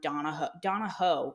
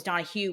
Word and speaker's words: Donahoe: did that was John Donahoe. It's Hoe. I thought it was Donahue when we recorded that episode. But anyway, it's Donahoe.